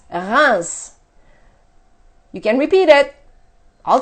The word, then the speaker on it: Reims: thing here is that we pronounce the R and the s but in the middle all three letters are one the same sound we have in bread